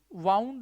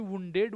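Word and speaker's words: wound: लेकिन इन तीनों को देखें, फाइंड का फाउंड, फाइंड का वही फाउंड, ग्राइंड का ग्राउंड, और वाइंड का वुंड।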